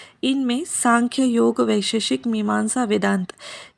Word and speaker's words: सांख्य: यहाँ पे सांख्य अलग अलग तरीक़ों से लिखा जाता है, SAMKHYA या फिर SANKHYA, बट उसको प्रोनाउंस हम सांख्य ही करेंगे।